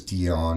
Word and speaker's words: Dion: But my name is Dion, and it rhymes with peon.